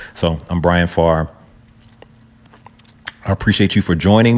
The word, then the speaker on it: Pharr: I've been called everything from par to everything else, right? But the ph is it's the f sound there. All right, so I'm Brian Farre.